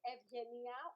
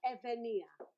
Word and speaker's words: Evgenia: To make it easier, visualize a Y where the G is Evgenia, or if you want, you can omit one of the two sounds. So Evgenia.